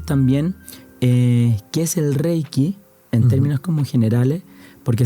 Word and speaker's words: Reiki: eh, porque la palabra reiky como tal es de origen japonés, entonces tenemos la palabra, tenemos reiky, pero tiene dos sílabas. Entonces tenemos rey una y qui, entonces rey se traduce literalmente como universal y energía, ¿ya?